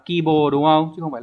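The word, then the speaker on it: 希望: chữ hi và chữ vọng từ này phải đọc là à kibo đúng không Chứ không phải là C nhá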